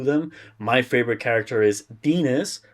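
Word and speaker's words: Denis: My favorite character is Dinas, who rhymes with penis, stated in the book, Mm-hmm.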